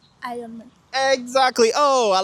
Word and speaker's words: Iron Man: Nous, les francophones, on dit généralement Iron Man. Mais sinon, la bonne prononciation, c'est? Iron Man.